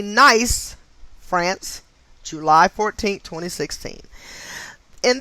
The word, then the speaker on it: Nice: 2016 and it is spelled nice so if it's supposed to be pronounced nice france i'm not sure but i'm going to say nice france okay in this incident